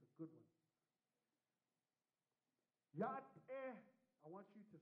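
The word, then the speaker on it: Yá'át'ééh: But it's pronounced Yat-eh.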